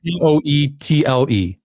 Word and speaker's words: Poeltl: Well, that's Jakob Poeltl, who none of those letters in his name spell that, but that's his name either way. Well, here's the thing. Poetle. Ain't no Poeltl, but anyway.